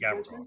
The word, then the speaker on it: Gavrikov: Gavrikov, is that how we pronounce his name? The new defenseman? Gavrikov, yes, sir.